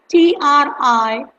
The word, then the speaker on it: Triphala: Yes, it's Triphala. Tri is try, like three, and Phala, that is phala, is the Sanskrit word for the fruit, medicinal fruit.